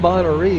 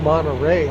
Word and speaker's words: Monterey: And it's not Monterey, it's Monterey. I was pronouncing it incorrectly.